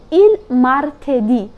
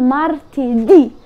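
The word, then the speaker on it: martedì: لوني دي الثلاث اسمه مارتدي وخلي بالك بتقول مارتدي يعني بتتك على اخر حرف في الكلمه ليه عشان في اتشنت منور اهو موجود على حرف الاي فبتنطق مارتي دي اتعلم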